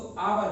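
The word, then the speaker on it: hour: हिंदी उच्चारण व्यंजन शुरू, जैसे कि मैंने लिया आवर, तो दोस्तों इसको आवर बोलते हैं। ऑनेस्ट ले लिया दोस्तों, इसको ऑनेस्ट बोलते हैं।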